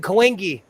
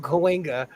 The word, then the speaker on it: Cahuenga: little and I didn't know like tsunami was spelled with a T, I go, what is T tsunami? Cahuenga. I called it Cahuengi. There's a street in my town called Cahuenga, and I Yeah.